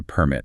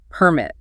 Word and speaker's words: permit: The noun is the actual document, the license, permit. Stress is on per. You need to have a building permit before you start construction. And the verb is the action of allowing something. Permit, stress on MIT.